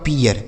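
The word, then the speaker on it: peer: पढ़ा जाएगा ठीक है पी डबल ई आर तो पी से हो गया प और डबल ई का उच्चारण इ आर से र यहां लिखा आपका पीियर इसे पीर नहीं पीियर सी एच डबल ई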